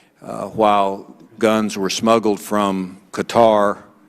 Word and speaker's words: Qatar: guns were smuggled from Qatar cutter I think it's a correct pronunciation now uh cutter to Libya used by